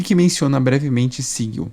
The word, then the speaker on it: Sigil: Bom, Sigil se pronuncia Sigil e não Sigil.